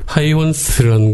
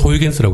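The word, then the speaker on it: Huygens: 호이겐스호라고도 부르고 뭐 그랬었는데 이게 하이온스라는 게 네덜란드 발음으로. 그래서 옛날에는 호이겐스라고 했어요. 그랬죠. 그러다가 지금은 이제 원래 발음을 존중한다. 그래서 하이온스라고 바뀌었는데 저희 그 코스모스를 번역하신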